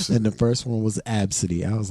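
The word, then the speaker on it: Abcde: this chick was going to name her child absidy absidy yeah but it's spelled AB bcde E I mean [ __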